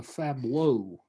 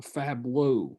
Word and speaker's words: fabliau: This Miller's Tale is called a fableau. A fableau. You spell that Fabliau.